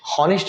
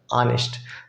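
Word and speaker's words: honest: क्योंकि ईमानदार है, ईमानदार आप उसके हिसाब से ऑनेस्ट, हॉनेस्ट नहीं पढ़ते हम, ऑनेस्ट, ऑनेस्ट प्रोनाउंसिएशन अ वाला एन, सिंपल।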